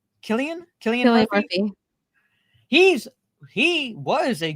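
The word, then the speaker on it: Cillian: Um is it pronounced Sillian? Killian.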